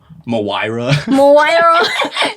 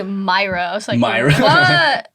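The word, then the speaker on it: Moyra: my name right yeah i pronounced your name wrong for the longest time i pronounced it moira so people call me myra where's the a there's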